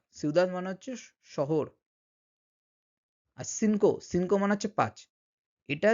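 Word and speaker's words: cinco: সেটা হচ্ছে যে যদি লাতিন আমেরিকান স্প্যানিশ হয় তখন সেই সিটা কিন্তু এস এর মতো উচ্চারণ হয়।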